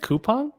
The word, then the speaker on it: Coupang: Is it Coupang? That's how I was told it was pronounced. I've never pronounced it that way, so there you go. I'll take your word for it. Coupang, the Amazon of Korea. It's probably Coupon, but who knows? Our anglicized pronunciation of it.